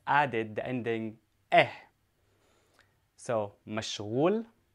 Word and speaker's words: مشغول: Now, to say busy, I say mashghul. Mashghul. And this is for a man. Now, make sure you pronounce the ghain correctly. Ghain is a throat letter in Arabic.